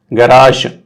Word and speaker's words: garage: Okay, this looks like a sound similar to the S in this measure. Garage.